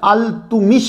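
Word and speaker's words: इल्तुतमिश: यह प्रोनाउंसिएशन अल-तुमिश है।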